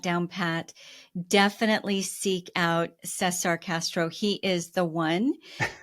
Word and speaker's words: Cesar: Cesar is spelled Caesar, but it's Cesar.